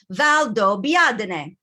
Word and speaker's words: Valdobbiadene: beginning so say valdo now say it together valdo biadne there it is you got it that's how we pronounce it and what you'll notice i think